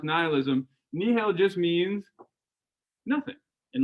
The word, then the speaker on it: nihilism: In fact, nihil, I know it's spelled nihilism, but it's pronounced nihilism.